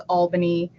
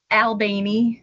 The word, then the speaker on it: Albany: do correct people and you correctly uh pronounced it as Albany um not what what's the alternative Albany ALB I've never heard that I guess I guess